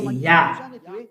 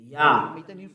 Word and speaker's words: Yah: His name is Yah. How to pronounce it's Yah according to the Hebrew. When you see this word, it is read Yah in Hebrew. I tell again, Yod and He is read Yah.